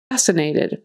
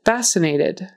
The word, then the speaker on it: fascinated: you have on versatile fascinated fascinated forget the c in there it's silent it's just fascinated fascinated sure sure that